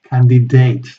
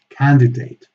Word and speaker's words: candidate: And these famous exceptions, which are really, really exceptions, because candidate it's a noun, and it should always be pronounced candidate, candidate, or mandate, or debate.